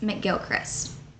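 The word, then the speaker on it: MacGilchrist: ways to spell Gilchrist one of the most common ways had Mac in front of it making it pronounced mcgilchrist my grandfather told me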